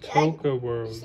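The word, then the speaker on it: Toca World: Daddy, tell them to spell it. It's called Toka World.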